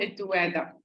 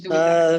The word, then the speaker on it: الدوادة: نعم أنا معاكم، اسمي الدوادة مش دودة.